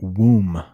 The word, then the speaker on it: womb: with a w and it's so weird but that b it's silent so we pronounce that womb womb crazy womb and